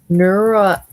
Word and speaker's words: neuralgic: It's neuralgic. I'm sure it'll tell me how to say it too. But the beginning part is neural and then jic.